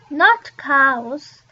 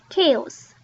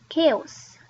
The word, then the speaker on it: chaos: But we pronounce this not cows, but chaos, chaos.